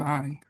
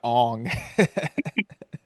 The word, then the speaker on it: Aang: But then once they came out of the ice, they were like, "Hello, I'm Aang." Yeah. Yeah. I mean, not even though they used the M. Night Shyamalan pronunciation Ong.